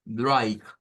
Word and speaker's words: Dreieck: Todo lo que lleva EI En idioma alemán se pronuncia con I. Es el sonido que se debe de hacer. Entonces, Dreieck, Dreieck, Dreieck, Dreieck.